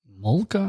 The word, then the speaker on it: Homolka: He's telling him about this girl, Karla Homolka.